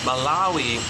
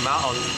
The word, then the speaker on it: Malawi: Malawi has three syllables, Malawi, yeah, has three syllables.